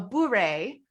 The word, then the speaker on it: beret: It's called a beret, which I almost like beret, like you wear on your head, but a beret. And I really like it because it rhymes with hooray.